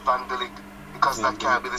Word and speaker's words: Van Dijk: to pronounce his name he's not called the Van Dyke it's called vandalik because that can't be